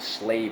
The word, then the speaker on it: slave: always has to be conquered right but a slave will always put up a fight when someone